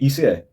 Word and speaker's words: ICE: Aí eu coloquei ICE e deixei a pronúncia do IC como ice.